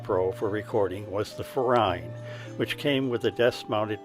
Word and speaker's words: Furine: And no, I am not mispronouncing Furine, which is a well-known maker of quality budget USB mics.